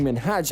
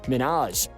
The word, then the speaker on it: Minhaj: by his wrong name she kept pronouncing minhaj as minaj and truthfully no one